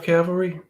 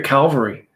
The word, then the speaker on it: cavalry: Proper description of cavalry? How about a proper pronunciation of cavalry? How many times do we hear Calvary? What are you talking about? You talking about the hill where Jesus died?